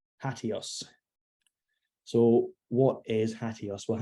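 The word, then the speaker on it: HATEOAS: hot, and it's called HATIOS. So what is HATIOS? Well, HATIOS is an acronym, stands for hypertext as the engine of application state. In terms of pronunciation, I always just think adios.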